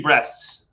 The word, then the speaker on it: Brest: If anybody doesn't know, first of all, Micah Richard talking about a team called FC Brest. Yes, and I'm not kidding. That's how it's pronounced.